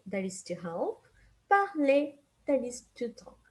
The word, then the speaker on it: parler: And you can tell that in all the verbs that I just said, I never pronounce the R, okay? We never pronounce the R in the ending, okay?